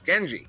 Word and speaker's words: Gen4I: And for a while, I was going with the pronunciation of Genie, but I actually met that player in a pub match after casting one of his games, and I asked him in person. I was like, "How do you pronounce your name?" It's Genji. His name is Genji. So for anyone wondering, GN4I, his pronunciation is Genji.